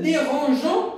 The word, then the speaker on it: dérangeons: dérange personne nous ne dérangeons personne on ajoute eu pour prononcer g bon voilà la leçon